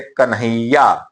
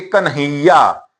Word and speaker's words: कन्हैया: अब देखिए पहले इसका उच्चारण हम देख रहे कन्हैया। देखिए कन्हैया। यहां पर भी उच्चारण इस तरीके से हो रहा।